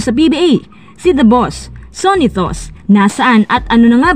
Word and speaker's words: Sonny Thoss: Si Joachim Gunther, or kilala bilang Sonitos, ganun kasing pagkakabigkas sa German language ay isang Filipino-German na pinanganak sa Port Moresby, Papua New Guinea, December 7, 1981.